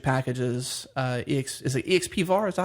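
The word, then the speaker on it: expvar: common uh metric packages uh ex is it exp VAR is that how you pronounce it yeah well xvar is one of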